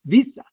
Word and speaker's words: Wiese: His real name is Visa but that's how it's pronounced pronounced in Dutch why?